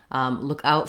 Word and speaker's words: look out: So the difference, as you can see, is somewhat subtle in that the pronunciation of look and out are the same in both of these, but which word is more important and therefore held longer or stressed is going to vary between look out, the noun, and